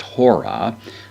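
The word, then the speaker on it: ὥρα: word with the rough breather at the beginning, pronounced hora.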